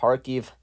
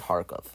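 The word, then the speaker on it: Kharkiv: the city of harkov i mean it's harkief right here because the ukrainians pronounce it harkeef i believe the majority of the people there speaks russian though so actually you can call it harkov well anyway russia's plan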